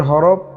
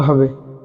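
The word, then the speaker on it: ح: আলিফ আলিফ আলিফ বা তা তা ছা কিন্তু পাতলা করে বলতে হবে ছা জিম জিম জিম হা এ হা এর উচ্চারণ হলকের মধ্যখান থেকে হবে হলকের মধ্যখান অর্থাৎ গলার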